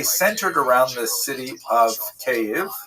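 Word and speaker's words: Kyiv: That's the Ukrainian pronunciation by the way that's favored today because of course Ukrainian is the dominant language in the country. But it used to be called in English Kiev, which is closer to the Russian pronunciation because Russia dominated much of this area in the modern era.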